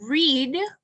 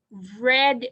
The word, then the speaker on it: read: So read in the present, read in the past, como el color red, la pronunciación, en el pasado.